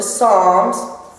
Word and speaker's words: Psalms: Go to Psalms, and you know that's, and it's spelled with a P, even though the P is silent.